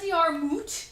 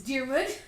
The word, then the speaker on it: Diarmuid: No, it's not Diarmuid. It's Diarmuid. It's like they're butchering these Irish names.